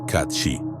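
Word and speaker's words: Cat Sìth: Según la tradición, el cath que se pronuncia kat shi no es un gato cualquiera, es un ser feérico.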